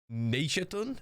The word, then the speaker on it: Neishatun: boss, or I believe you can call it Neishatun. That's how you pronounce it.